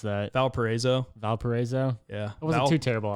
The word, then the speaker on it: Valparaiso: university so what's the official way how to pronounce that valparaiso valparaiso yeah it wasn't too terrible they called it